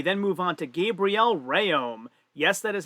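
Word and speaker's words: Rhéaume: opening weight we then move on to gabrielle rayom yes that is how it's pronounced despite the way that the commentator brian hightower was pronouncing it as rayom he could not lock out on 380 pounds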